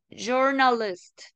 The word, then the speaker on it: journalist: Y el sonido corto de la I es parecido a la U de guaraní. Por eso es journalist, no es journalist, ¿verdad?